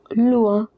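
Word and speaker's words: loin: the bathroom lua Uh remember this combination o i is pronounced as wa or wa over here lua. Similarly vua plua the word lua it means far lua more far but it is used for further.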